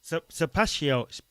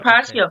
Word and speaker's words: Sapacchio: I don't know why I keep saying Sapacchio. Oh, do you know what? I've been saying it right. Sapacchio. Yes. Not Tequila. Sapacchio.